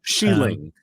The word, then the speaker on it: Xialing: Sheeling. Sheeling. She. Sheeling. XI is she.